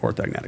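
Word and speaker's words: orthognathic: Um and I met him through some friends and you know, was on a personal level, he's you don't want to get orthogonatic surgery.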